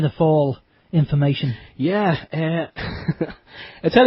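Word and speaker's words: Fáil: fail H it's actually spelled fi but it's pronounced fall it's a it's a gay word or something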